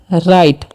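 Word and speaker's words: right: तो इसे हम पढ़ते हैं राइट। ठीक है, यहाँ पर GH साइलेंट होता है।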